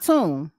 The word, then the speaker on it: Mtume: Okay, Juicy Fruit was by Tune. It is spelled Mtume.